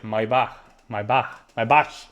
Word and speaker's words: Maybach: In Spain, we say Maybach, but I b my bach. They say my bach, bro. That's how you say.